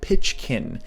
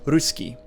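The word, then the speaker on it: русский: the russian alphabet cyrillic someone whose native language uses the latin alphabet might read this as pitchkin but it's actually pronounced ruski most of the languages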